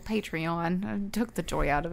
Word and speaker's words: Patreon: say it like that I always say patrin because I think it's funny it's patronizing Oh patreon took the joy out